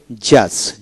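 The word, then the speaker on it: judge: তারপরে silent D, যেমন জাজ, জে ইউ জিই জাজ, ডি উচ্চারিত হবে না।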